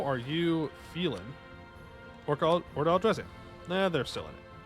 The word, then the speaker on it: Orlghelovar: Or Orlghelovar. I don't know why I keep saying Orca. It's just wrong. just straight up wrong. Not how you say it.